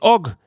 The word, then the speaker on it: UGG: salir a bolsa su marca más conocida es ogog que se escribe ugg y es muy famosa por sus